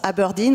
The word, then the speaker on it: Aberdeen: logo qui se prononce notre nom se prononce aberdeen on a modernisé l'écriture